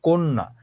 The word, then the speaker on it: কন্যা: কন্যা, নটা দ্বিত্ব হলো।